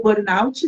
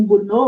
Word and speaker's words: burnout: Hoje a gente tem também a síndrome de burnultô ou burnout, né? Algumas, alguns autores, algumas pessoas se referem como burnô, outras como burnout. As duas maneiras são aceitas de de pronúncia, mas a gente não